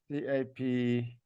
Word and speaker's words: CAPEC: How do you spell that? CAPEC, KPIC.